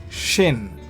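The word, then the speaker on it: שׁ: If the dot is on the right, then we pronounce it shin as in sharp sha sound.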